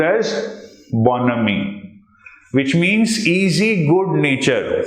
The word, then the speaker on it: bonhomie: This is pronounced as bonhomie, which means easy good nature.